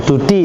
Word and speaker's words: DUDI: Oh, Dudi itu Mbak bacanya. Dudi.